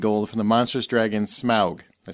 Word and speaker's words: Smaug: Vanquish Kingdom and gold from the Monstrous Dragon Smaug I say it right yes thank you every